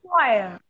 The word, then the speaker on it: choir: Choir. This is phonemic transcription of the word, this one. CHOIR is transcribed using phonetic alphabets in this way. Choir. Okay? This is the right pronunciation of this word, C-H-O-I-R.